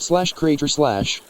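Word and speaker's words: Krajcir: Timothy Wayne Cratch, pronounced /Crater/, born Timothy Wayne McBride,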